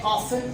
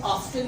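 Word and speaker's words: often: हम कह रहे हैं ऑफन, ऑफ्टन नहीं कह रहे। हम कह रहे हैं लिसन, लिस्टन नहीं कह रहे।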